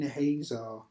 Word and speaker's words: Hazor: It says, so the Lord sold them into the hands of Jabin, a king of Canaan, who reigned in Hazor. That's how you pronounce it.